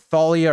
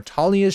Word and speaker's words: Thalia: set off they meet at Thalia or talia's tree I've kind of heard it pronounced both ways so not sure the way that it's pronounced so if you guys want to let me know let me know down I'm going to go with the way I've always said it is Talia I know the show